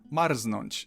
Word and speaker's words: Marznąć: There are some very rare cases of R and Z not forming ż, but you'll probably never encounter them, and I can only think of one example. Marznąć, so I'd recommend to